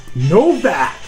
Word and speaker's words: Novak: He said it's pronounced Novak. So, congratulations, Matt. Let's make a big deal about this. Now, his last name is spelled Nowack. So, isn't it Nowak? Excuse me, well, people from my part of town, we pronounce it Novak. Novak. It's not just us, it's the Germans, they also pronounce it that way.